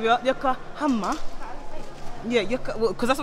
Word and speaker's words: Yokohama: Welcome to Yokohama. You have to say it right, love. Yokohama.